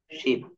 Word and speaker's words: ship: এই জায়গাটা একটু দেখেন, প্রোনাউন্সিয়েশন ভুল হলে কি হয়। এই জায়গাটা আমি দেখালাম SHEEP, শিপ। আর একটি লিখলাম SHIP, শিপ।